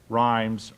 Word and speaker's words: Rhymes: In order to spell that, I'm going to make sure that I have it down. It's Geter, Geter, Rhymes, Rhymes.